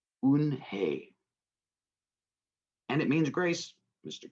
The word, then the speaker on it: Unhei: to joey she nodded slowly yes it's pronounced un hey and it means grace mr kim had it you and hey joey said slowly and this time more time un hey he said it perfectly it made smile i'll